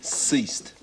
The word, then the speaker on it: ceased: the letters not bad but it's a soft c ceased it mean yeah it